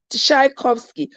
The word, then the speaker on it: Tchaikovsky: I can't pronounce that. That's Russian, something like that. But something, Tisakovi, Tishakovsky, Tchaikovsky.